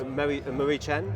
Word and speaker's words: Mariechen: Sure, and I apologize if I mispronounce her first name, but Mary Chen, or it might be Mary Chen. Yes. Yes. Marie Chen?